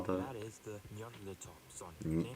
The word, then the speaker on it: Nyarlathotep: I don't know how to pronounce that. What do you call that? That is the Nyarlathotep Sonic. Nyarlathotep.